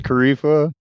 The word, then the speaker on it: Kifa: like our new guy's name is kifa kind of rhymes with Whiz Khalifa I got that bro